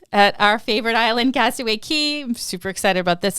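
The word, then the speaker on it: Cay: I'm so pumped about Castaway Key yeah I don't know why I want to call it that because it's spelled that way I almost want to say my brain tricks me and it's like I know it's key but I want to say k but anyway I'm looking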